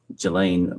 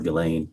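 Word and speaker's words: Ghislaine: Um, as best as we know, it's been public reported that in 2024, uh, Gilain Maxwell or Gileain, I think is how it's pronounced, arranged and wired $1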